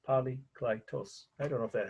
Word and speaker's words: Polykleitos: So poly, P-O-L-Y, of course, klei, right, K-L-I-E, right, tos, T-O-S, polykleitos.